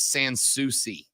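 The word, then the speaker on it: Sans Souci: I'm being told corre the correct way to pronounce it is sansi you didn't know either didn't I Sans sui uh Texas says it's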